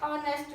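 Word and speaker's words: honest: man dash ऑनेस्ट मैन अब इसका first letter है जो एच है लेकिन वो साइलेंट है लेकिन अगर हम इसे बोलते हैं तो इस ओ की साउंड फर्स्ट आती है ऑनेस्ट मैन इसलिए यहां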